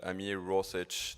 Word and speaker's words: Ameer Rosic: He's the co-founder of Blockgeeks, a very good friend, Ameer Rosic, that's how his last name is pronounced.